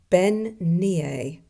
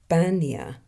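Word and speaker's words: bean-nighe: It is Ben-nia or Bania. It's Scottish Gaelic for a washerwoman, who is thought to be an omen of death in Scottish mythology.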